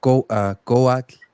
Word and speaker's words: Cuauhtli: Yeah, like Cuauhtli, you know, with that little W Yeah, sound in Coat, there. Coat. Yeah, it might have sounds more like a, a It's a W subtle sound.